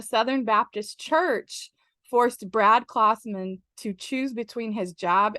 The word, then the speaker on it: Klausman: It's like Santa Claus. It's Klausman. Klausman.